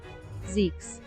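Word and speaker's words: Zieks: I was almost expecting Zekes maybe. But here, let me see how Google pronounces it, right? Google should pronounce it properly. Zekes. Yeah, there we go.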